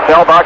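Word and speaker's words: Seelbach: spell steelbox but czech wanted to change the pronunciation changed anyway selbach a right-handed battery struck out his first time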